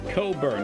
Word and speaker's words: Cockburn: Bruce Cockburn. Yeah, I'd rather not burn that section of my body. That's Coburn. Yeah, no, that's not how it's spelled.